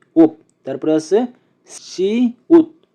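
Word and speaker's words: 시옷: তারপরে আছে সি উত, সি উত, সি উত। সি উতের উচ্চারণ হবে স, স এবং ত এর মতো।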